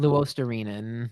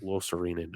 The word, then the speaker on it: Luostarinen: Is that Luostarinen. Luisterainen?